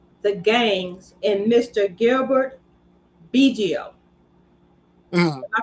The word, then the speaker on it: Bigio: Gilbert Bigio. Mhm. Am I pronouncing his name correctly?